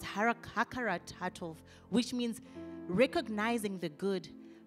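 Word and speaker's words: הכרת הטוב: In Hebrew, gratitude means it's it's pronounced hakaratov, which means recognizing the good.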